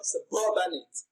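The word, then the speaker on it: suburbanite: So this makes the word suburbanate stressed on its second syllable. So when you pronounce suburbanate, you can hear the stress on the second syllable, suburbanate. It is pronounced louder and longer than every other syllable.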